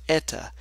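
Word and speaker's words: η: isn't changing this is 8 times this is pronounced Etta the viscosity and it's not changing here and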